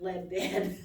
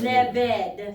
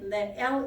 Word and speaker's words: Lebed: Ledbed, I put that D every time I say that name, Ledbed. It's Lebed, Lebed.